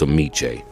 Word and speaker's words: Ameche: Remember it, it's Ameche. Moving on.